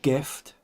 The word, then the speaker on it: GIF: It's G-I and G-E, but it's pronounced hard G-G anyway. And that's the reference point, I think, that people naturally use when GIF comes along.